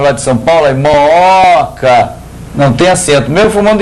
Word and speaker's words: Mooca: Aí, Mooca, não tem acento, mesmo formando hiato, por quê? A sílaba tônica não é o primeiro O, é o segundo O.